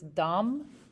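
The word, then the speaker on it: דם: word that is used there is uh it's dom is how it's pronounced it's like d-a-m right and i just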